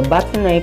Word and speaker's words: batonnet: The batonnet, pronounced batonnet, is basically creating a rectangular stick that measures 1/2 inch by 1/2 inch by 2 1/2 to 3 inches.